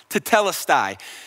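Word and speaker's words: τετέλεσται: finished is actually just one Greek word it's pronounced to tellus die and it was a very common phrase that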